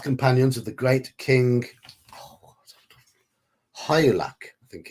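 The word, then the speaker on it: Hygelac: of the great king High luck I think I think you pronounce that it's like a silent G in there I can't use this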